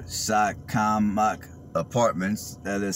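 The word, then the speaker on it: Shakamak: i'll drive through real quick these are called shotcom mock apartments that is spelled s-h-a-k-a-m-a-k these are retirement apartments i'm sorry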